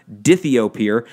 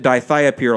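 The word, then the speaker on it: dithiopyr: There's another one called dithiapir, which it's actually pronounced dithiapir. I pronounced it dithiapir a long time ago on purpose just to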